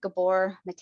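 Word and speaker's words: Gabor Maté: Gabor Mate, I think is how you say his last name, from Canada.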